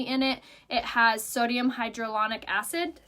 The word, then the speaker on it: hyaluronic: So it has flower extract, it has a blurring technology in it, it has sodium hyaluronic acid. Did I say it right? Kind of. There's no D in that word.